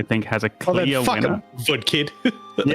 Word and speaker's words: Woodkid: I'm going to guess VKid and Lugvig Forsel for Death Stranding 2 on the beach. I love that you got the one wrong right. It's Woodkid. Yeah, I was